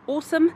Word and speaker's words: Aosom: be saying working with Awesome on this video. It's spelled A-O-S-O-M, but it's pronounced Awesome.